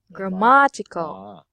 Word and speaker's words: grammatical: it is correct but the stress must be on the second syllable like your ma grammatical yes that is how